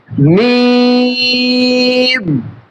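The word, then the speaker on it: ميم: উচ্চারণ খেয়াল করবেন সম্মানিত এই হরফের মাখরাজ হচ্ছে দুই ঠুটের শুকনা অংশ থেকে। দুই ঠোঁটের শুকনা অংশ থেকে। মিম।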